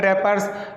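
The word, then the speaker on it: wrappers: नीचे वाला डू not throw chocolate रैपर्स, अब ये रैपर्स में जो है डब्लू साइलेंट है, डब्लू नहीं पढ़ते हैं, है ना, ये रैपर्स नहीं है, रैपर्स लिखा हुआ है।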